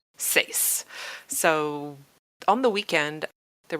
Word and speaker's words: seis: ah well I got all caught up on seus that is that okay is that how you